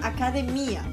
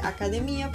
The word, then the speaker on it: academia: ya habla en portugués esa palabra se pronuncia academía pero no se refiere a las academias donde nosotros vamos a estudiar sino a los gimnasios entonces aquí academia se dice academía pero es los lugares